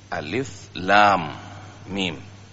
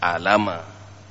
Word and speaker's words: Alif Lam Mim: Alif Lam Mim, bukan alama.